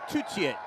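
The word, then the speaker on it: Tuttiett: Voice of former Welsh international Tutiet, or Tutiet, with the French pronunciation of your surname.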